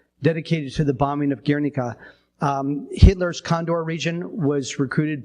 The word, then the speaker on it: Guernica: article about the bombing in Guernica which we pronounce Guernica which is where during